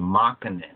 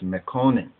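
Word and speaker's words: Mekonnen: are called meconin or what ones would pronounce from a western orientation or disorientation as a mockingen but actually it's meconin and that's a we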